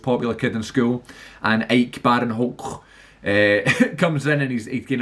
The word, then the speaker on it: Ike Barinholtz: There's a guy in it who I think is called Ike Brainholtz, which is a very interesting name, and ashamed that I had to pronounce it like that and murder the pronunciation.